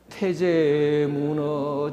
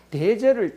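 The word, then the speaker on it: 太宰: 대제를 태제라고 발음을 합니다. 대자가 더 강화가 되면요. 태인데 옛날에는 그냥 이 점 없는 거하고 같이 있었습니다. 태제. 이 점이 있고 없고 간에 상황에 봐서 그 태제라고도 하고 대제라고도 합니다.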